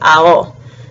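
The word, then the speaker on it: Aono: next is Rio so his last name is a-o-n-o and you pronounce all the vowels so it's owl and so his name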